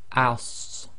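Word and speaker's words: ص: So it's like the seen as in as, but you've got to make it the thick version. So say it the same way, but lift the back of the tongue and make the mouth a little bit more full.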